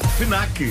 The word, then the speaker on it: Fnac: Disseste Fnac? Fnac. Fnac. Três sílabas. Fnac, pronto. Já não, disse bem. Eu acho que disseste com um E a seguir ao F e também com Q-U-E. Q-U-E, claro.